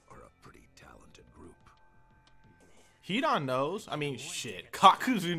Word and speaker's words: Hidan: Hidan knows. I mean, shit. Kakuzu knows. I can't believe I just butchered both of their names like that. Hidan.